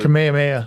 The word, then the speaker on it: Kamehameha: The uh king, don't ask me to pronounce it. Kamehameha.